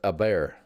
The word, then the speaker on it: Hebert: something America Airlines D Hebert is pronounced a bear AAR oh so she's